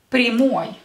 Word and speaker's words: прямой: And today's adjective is the adjective прямой. Прямой. Прямой. As you can see here, with ой ending, this is masculine, with ой ending because the last syllable is stressed.